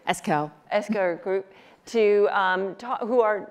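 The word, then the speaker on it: Esquel: Eskel.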